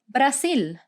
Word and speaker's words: Brasil: and this is called brazil one more time note that we don't pronounce that hard z like we have in english it's pronounced like an s and in brazil we